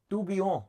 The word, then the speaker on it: Tourbillon: Tourbillon. टू बी ऑन. हाँ. L is silent. French है यार.